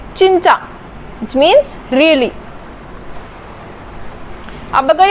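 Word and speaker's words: 진짜: चिंचा में जब जीएफ स्टार्टिंग में लगा हुआ है तो मैंने इसको च प्रोनाउंस किया, चिंचा, which means really।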